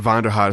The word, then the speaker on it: Vonderheide: Ben Vonderheide.